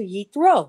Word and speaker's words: Jethro: You would have expected them to go back to Hebrew. Why not go back to Yethro, which was his name? But no, they took the English version, Jethro, and made it fit Ruchiga.